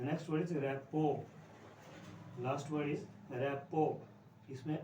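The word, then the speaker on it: rapport: इसमें आर, क्योंकि T silent है इसमें, जब टी साइलेंट है तो लास्ट में आर आ गया, तो आर लास्ट वाला पता ही आपको कैसे बोलते हैं, तो इसको बोलते हैं रैपो।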